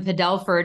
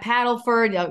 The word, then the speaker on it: Padelford: I'm always like, it's Padelford, not Paddleford.